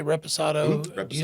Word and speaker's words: reposado: Do you say reposado? Reposado, do you say añejo? Reposado, añejo. Yes, sir. And maybe you'll pronounce añejo.